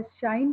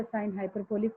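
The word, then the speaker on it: sinh: हाइपरबोलिक function, पहले भी मैंने आपको बोला था बहुत लोग इसे कॉश या शाइन करके प्रोनाउंस करते हैं, बेटा इसे कॉस हाइपरबोलिक या साइन हाइपरबोलिक प्रॉपर बोलिए।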